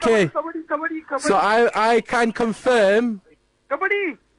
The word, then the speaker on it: kabaddi: But we've gone for the English version, which Which is is kabaddi. Kabaddi, I got that. Right. Okay. Kabaddi.